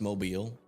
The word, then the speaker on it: Mobile: It's pronounced Mobile.